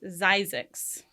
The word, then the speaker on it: Zzyzx: It's actually pronounced Zizix, Yeah.